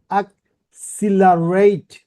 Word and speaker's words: accelerate: সো এখানে এনে দেওয়া আছে accelerate, চারটা সিলেবল, বাট আমাকে জোর দিতে হবে, যেমন accelerate, রাইট?